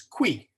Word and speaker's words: qui: And then the UI sound, which is kind of like a WI in dwindle. If the Latin word who is qui.